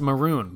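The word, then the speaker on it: Mörön: There's a town in Mongolia named after you. Sadly, it's pronounced maroon, but that ruins the joke.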